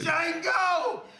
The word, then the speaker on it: Django: Django! The you Django. Black son of a bitch! The D is silent here, baby.